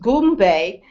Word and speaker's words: Goombay: So Goombay is G-U-M-B-A, and is pronounced Goombay, and it is a